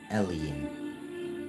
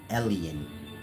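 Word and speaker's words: Elyon: that one was called alen like y'all word alien but spelled e l y o n you can Google it e l y o n llan but it's pronounced alen like our word alien and that was basically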